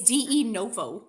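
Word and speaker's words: de novo: It's de It's d noo. Dooo. What did I say? Denuvo.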